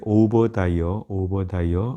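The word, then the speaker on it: Obadiah: 영어로는 볼 때 오버다이어 이렇게 발음하게 되어 있고요.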